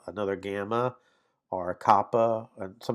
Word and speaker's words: gamma: Then we have gamma, gamma. And it looks like that. It's the G in got, so it's a hard G sound.